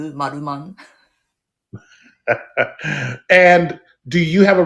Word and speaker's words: Maruman: I know it's the R, but we pronounce it Maruman.